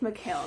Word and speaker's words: Mikhail: I think we're going with Mikhail. That's how we pronounce it now.